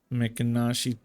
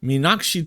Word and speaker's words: Meenakshi: Mekanashi Minak. How do you pronounce that? Meenakshi Temple.